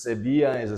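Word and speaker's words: Sevilla: 난 디에고 I live in severe 이때 L이라는 말 갖다가 뭐뭐이야 이에 이렇게 발음을 하거든. 스페인 말은 그지? 그래서 세비아에서 살고 있어.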